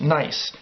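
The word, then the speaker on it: gneiss: rock that we call nice it's actually spelled GN e is s but pronounced nice it's a German word okay alright so here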